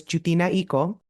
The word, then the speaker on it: Jewtina: won't know where it goes correct way to pronounce it the way we intended it was jinao if we get that far people will then